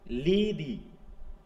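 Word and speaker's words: Lethe: উচ্চারণটা কি বললাম? দেখো একটু অনেক সময় লিদ বলে অনেকে, এটা হবে কি লিদি।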